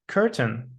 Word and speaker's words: curtain: Look at the words curtain and mountain. They do not rhyme with words like pain and gain. Certain and mountain rhyme with fountain.